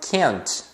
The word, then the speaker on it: can't: auxiliares negativos e normalmente o t final ele é pronunciado como um Stop te Ou seja você coloca